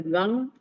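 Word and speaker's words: गं: mantra of Ganesa gang you must pronounce the gang at the root uh roof of your um pallet.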